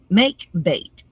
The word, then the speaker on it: makebate: And our next word of the day See if I can pronounce it. is makebate. Makebate.